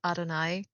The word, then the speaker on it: Adonai: Adonai. How bad could it be? I also looked up the pronunciation for it. It is Adonai.